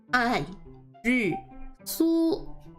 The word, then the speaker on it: 爱丽丝: 爱丽丝, which is basically 2 fourth tones and then the flat first tone for the su. So this su would have the first tone.